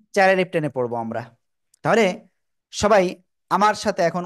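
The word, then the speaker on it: ت: ওকে, এই তা অক্ষরটা আমরা উচ্চারণ করব জিহ্বার আগা উপরে দুই দাঁতের গোড়ায় লাগাবো, লাগিয়ে আমরা একালিফ টেনে উচ্চারণ করব সিম্পল ভাবে।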